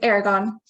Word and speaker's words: Aragon: As I was saying just a second ago, we have Kira, is it Aragon? Is that how you say it? Sorry, it's Aragon. Aragon.